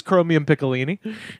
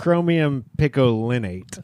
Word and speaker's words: chromium picolinate: What is What is chromium pickolini? How badly did I butcher that pronunciation? That's a band. It's chromium picolinate.